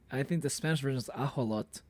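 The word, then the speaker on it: ajolote: The Spanish version has I think the Spanish version is ajolot. So it's asholot. So it's like instead of the it's like it's replacing the sh with the h sound, you know? I just thought it was cool someone recognized and pronounced it right. Ajolot is pronounced like that in Spanish, and that's how I pronounce it.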